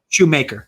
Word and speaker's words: Shoemaker: And Shoemaker's just been or Schumacher. I'm not sure how it's pronounced. Shoemaker's right. Shoemaker. So he's certainly shown some